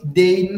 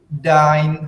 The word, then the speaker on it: dein: Nah, huruf EI dibaca AI dalam bahasa Jerman. Makanya Heredil nggak baca was is dein hobby. Itu salah. Cara baca yang benarnya adalah bagaimana? Was is dein hobby.